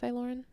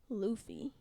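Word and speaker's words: Laufey: me on this but I think I saw a video of her showing how to pronounce it it's like Luffy okay I'm down for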